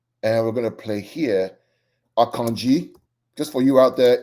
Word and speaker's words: Akanji: we're gonna play here akanji just for you out there it's pronounced akanji not akanji akanji it's a Nigerian name uh Thai would bear